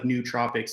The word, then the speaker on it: nootropics: what nootropics are and it's pronounced like nootropics even though it's spelled with the double O it's um essentially like